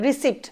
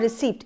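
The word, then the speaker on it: receipt: But believe me द पी is silent here. जब हम इसको प्रोनाउंस करेंगे ये बहुत बेसिक गलती है। जब हम इस वर्ड को बोलेंगे तो पी के साथ बोलते हैं। रिसीप्ट। मेरी रिसीप्ट नहीं मिली मुझे पेमेंट की। सो इट इज़ नॉट रिसीप्ट। इट इज़ रिसीप्ट। क्या है इसका pronunciation? The पी इज़ not there. और हम इसको तोड़ेंगे तो इस तरह से तोड़ेंगे री और सीट।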